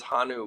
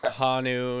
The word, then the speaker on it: Honu: Yeah, I'm from Colorado, so I think it's like Hanu. It's just like falls into the way that I pronounce O's and shit.